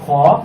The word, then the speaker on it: خ: আচ্ছা, এই হরফটার নাম হলো খ। এটা হবে চিকন হবে, শ্বাস চালু থাকবে। খ। মাত্রা 3 অনুযায়ী এটাকে আমাদেরকে উচ্চারণ করতে হবে।